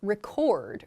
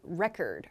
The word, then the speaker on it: record: yeah so as a verb the word is pronounced record record so for example we're recording a video